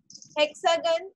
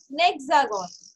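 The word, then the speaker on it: hexagone: Hexagon. Okay. So in French, this will be a hexagon. A hexagon. Okay. H. H is silent. We all know H is silent.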